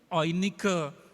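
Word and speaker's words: Eunike: Dari dalam nenekmu Lois, terus dan di dalam ibumu Oinike. EU itu kalau ejaan Jerman, EU dibaca OI ya, Oinike.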